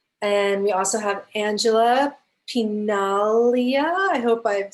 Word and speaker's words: Pinaglia: we also have angela pinalia i hope i've said it correctly pretty close the g is silent thank you italian right